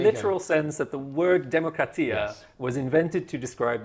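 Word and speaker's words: δημοκρατία: So I think in modern Greek they say demokratia, but it is true that if you look at classical Attic pronunciation, it would be demokratia because it's a pitched language, whatever.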